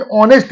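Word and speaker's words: honest: जैसे एन ऑनेस्ट मैन, एच को silent रखने के बाद ऑनेस्ट यानी वॉवेल से स्टार्ट होता है।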